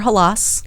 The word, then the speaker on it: Halaas: Halaas. Correct. First name. How did I do with that pronunciation?